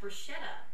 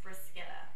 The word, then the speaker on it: bruschetta: it on menus, and people refer to it as bruschetta. But when I was in Italy, they actually corrected me and said that it was actually pronounced bruschetta.